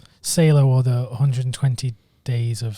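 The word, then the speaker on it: Salò: solo or sale oh I'd watch on the pronunciation say low or the 120 days of so Dom as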